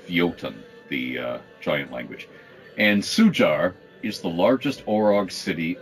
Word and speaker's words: Sujar: Sujar, S-U-J-A-R, but pronounced Sujar, is an Orog city.